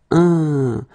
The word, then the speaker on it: un: Numéro 13, it's this un, so nasal, it goes in your nose, un, fin, okay, fin, un, fin.